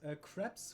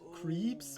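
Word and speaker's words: crêpes: like it was crepes with like crepe. Not crab, but crepe. Crepes. It's crepes. Okay, it's pronounced creeps in English. But that sounds creepy.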